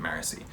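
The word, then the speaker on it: Marasi: meaning Steris Wayne and marisi or or I don't know I think I've always called it morassi and I think everybody else pronounces it mercy so whatever uh Wayne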